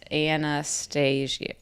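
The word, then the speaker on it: Annahstasia: then no no different Anastasia yeah it's a-n-n-a-h-s-t-a-s-i-a Anastasia that's how yeah that's how you say it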